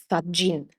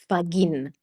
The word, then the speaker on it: Faggin: When you have a G in Italian and that G is followed by an I, that turns the sound of the G into a soft sound, which is J.